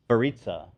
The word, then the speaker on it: Verica: You know, I got to say, Verica.